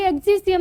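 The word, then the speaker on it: axiom: Sense आ रही होगी, एक्सियम में सेंस आ रही है आपकी, एक्सियम, एक्सियम इसकी प्रोनाउंसिएशन है एक्सियम, एक्सियम इसकी प्रोनाउंसिएशन होगी एक और आपका सीएम, एक्सियम।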